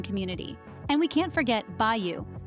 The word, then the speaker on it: bayou: and we can't forget Bayou pronounced be you this term refers to